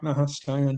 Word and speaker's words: Stion: I'm pretty sure you did, but and please correct me if I'm pronouncing it wrong, but you worked at a company called Stion. Oh, yeah. Yeah. Stion.